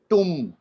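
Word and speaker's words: tomb: T-O-M-B, tum, बॉ नहीं आएगा. So whenever M and B will come together, B will be silent.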